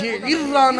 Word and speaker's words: جعرانہ: علیہ وسلم مقام جعرانہ جعرانہ ہی ہے تلفظ جعرانہ ہی ہے انہیں طرح ٹھیک